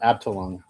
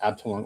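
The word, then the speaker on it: Abteilung: So when I was you're asking the type of oils if you're still there uh 3D painter it's pronounced abtoong I think it's called pronounced abtoong oils and they were originally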